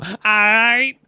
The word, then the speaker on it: aight: I'm just saying you're not saying it right. You need to go, aight.